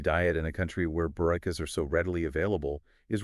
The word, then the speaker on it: Bourekas: I know, like when she explained how to pronounce Bourekas, she compared it to saying boo like a ghost.